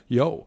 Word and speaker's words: Yeoh: I'm going to pronounce her last Michelle name. Yeoh? Yeoh.